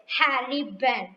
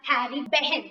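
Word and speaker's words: Harry Behn: kite here the kite and the poet is harry bent okay here look at the ball the kite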